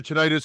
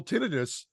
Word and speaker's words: tinnitus: This is tinnitus or tinnitus. It's pronounced both ways. That's actually been well documented that there seems to be hearing loss or possible tinnitus suddenly since people have had COVID.